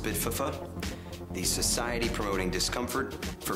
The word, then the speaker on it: SPDFF: We are SPDFF, pronounced Spitfuffa, the Society Promoting Discomfort for Freedom. Spitfuffa.